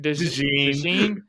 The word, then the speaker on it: DeJean: DeJean.